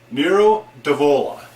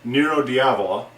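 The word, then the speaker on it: Nero d'Avola: new to you this is the 2007 Lazo Nero devola Nero devola also sometimes pronounced nuro diavola um everything I've seen says it should be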